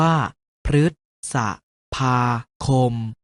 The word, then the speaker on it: พฤษภาคม: เสียง ว่า น้า นฤนาท รึ ตาม หลัง พ. พาน เช่น พฤษภาคม ออก เสียง ว่า พฤษภาคม พ ฤ ตาม หลัง